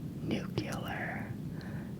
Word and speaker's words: nuclear: the next one is nucular nucular is a common pronunciation of the word nuclear um and it is